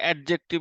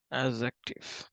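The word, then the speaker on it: adjective: তারপর হচ্ছে এডজেক্টিভ বা এডভার্ব এটা সবাই হচ্ছে এডজেক্টিভ উচ্চারণ করে উচ্চারণটা তোমাদের ঠিক করতে হবে তোমরা যেহেতু আমার স্টুডেন্ট ভুল করা যাবে না এডজেক্টিভ চলুন ঠিক আছে এজ অ্যাক্টিভ এবং অ্যাডভার্ব এই তিনটা হচ্ছে একসাথে উচ্চারণ করতে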